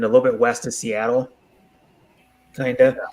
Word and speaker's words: Seattle: is how you pronounce it. If you want to know, Seattle. because Filipinos always get it wrong. Yeah, it's pronounced Seattle. Yeah, Seattle. Seattle. And he was an Indian chief.